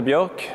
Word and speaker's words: Björk: My name is Björk, as it's supposed to be pronounced in Swedish.